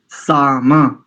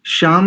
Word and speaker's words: साम: ठीक कीजिए आप थोड़ा सा साम श्याम नहीं साम सा साम मम प्राय करके जब विसर्ग के बाद साम पद का कहीं पर पद आता है तो प्राय करके अधिकांश स्थानों पर जीम ही उच्चारण होता है जी वयम श्याम तो